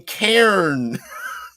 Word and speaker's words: Cairn: Oh wait, you mean Cairn? Yes, Cairn. Although I guess you pronounce Karen the same way.